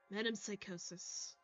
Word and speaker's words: Metempsychosis: I was putting in an extra H. Metempsychosis.